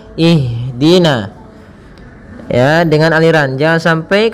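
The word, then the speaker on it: اهدنا: mengalirnya nafas kita maka jangan sampai huruf Ha ini memantul misalkan ihin akan tetapi alirkan nafasnya ihdina ihdina ihdina ya dengan aliran jangan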